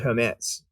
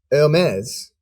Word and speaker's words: Hermès: to say that but without the H the film is oh